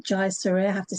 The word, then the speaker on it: Jayasuriya: pronounce. Yeah, Hajasuria. Jayasuriya. Jayasuriya. Jayasuriya.